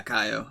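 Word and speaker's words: Kayo: The second one really gets you thinking about Kaio. That is her name, right? Yeah, Kaio.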